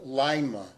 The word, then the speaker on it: Lima: next city in Ohio we are told it's pronounced Lima and it has over 37,000 residents and we're